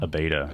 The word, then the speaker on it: Abeyta: Abeyta.